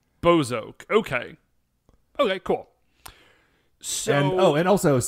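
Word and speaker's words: Bowzock: But apparently, if you actually like listen more closely to the show, it is pronounced Bozok. Bozok.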